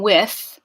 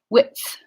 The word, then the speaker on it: width: gonna say whips whips so notice I'm not just saying with I'm doing a quick pause at the alveolar Ridge and then going to the fricative width width so I call attention